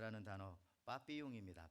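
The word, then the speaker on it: papillon: 나비가 무엇일까요 불어로 프랑스말로 우리가 잘 아는 단어 빠삐용 있니다 파피용 뭐 발음이 뭐 파피 용인지 자 빠삐 용이라고 하죠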